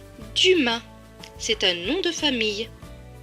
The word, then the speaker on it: Dumas: Le S à la fin ne se prononce pas puisqu'il est écrit en bleu. Donc ce mot va se lire du ma. Dumas.